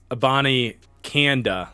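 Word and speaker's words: Abanikanda: pretty sweet it's pronounced a Bonnie Kanda like like Panda okay good to know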